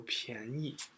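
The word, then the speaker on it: 便宜: This is 变 for all other three, and this is 便, sorry, that should be second tone, 便. Okay, so 便宜.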